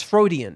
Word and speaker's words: Freudian: Fro no is Freudian because his name is Freud.